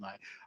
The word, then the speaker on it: Nighy: It's it just is Nye. pronounced Nye.